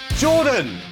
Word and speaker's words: Jorphdan: Jordan, the PH is silent.